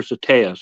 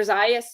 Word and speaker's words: Zayas: Greenville South Carolina with Dr Schusterman and Dr satayas is that how you pronounce it z-a-t-a-s oh Dr zayas yes yes so um yeah Dr shusterman's great